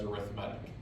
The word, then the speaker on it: arithmetic: reason when we talk about a sequence we pronounce it as arithmetic okay now we're adding 15 each time there's